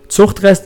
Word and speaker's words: Zuchtrest: Zuchtrest is how you pronounce it in German, but some people, I don't think, like when I say it like that.